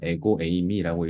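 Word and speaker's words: ἐγώ εἰμι: 에고 에이미라고 읽습니다.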